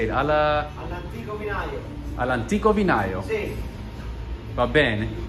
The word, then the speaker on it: All'Antico Vinaio: All'Antico Vinaio.